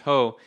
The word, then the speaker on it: JOH: honduras juan orlando hernandez known by his initials ho joh or pronounced ho in spanish he stole the election